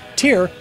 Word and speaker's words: Týr: But aside from that, Tyr is an excellent band. Tyr, or if you're not a sissy English speaker like myself and can actually pronounce it right, Tyr, has everything you could reasonably expect from a metal band.